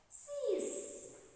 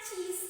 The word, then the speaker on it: cease: a word that is cease okay how do you pronounce this c's okay what's the meaning please do you know this is not cheese okay this is c's c's okay what is the